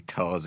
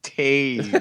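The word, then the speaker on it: Toews: That's why it really shows that in high school, everyone was making fun of him, calling him Toes, and he was just like, "It's pronounced Taze."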